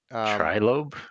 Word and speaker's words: Trilobe: Triloby, am I saying it right? Trilobe.